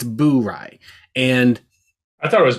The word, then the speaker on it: Bourye: And to be clear, it is pronounced Bourye. I've heard a few people mistakenly pronounce it Bourye.